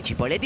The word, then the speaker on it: Chipoletti: Que Chipoletti es la pronunciación correcta.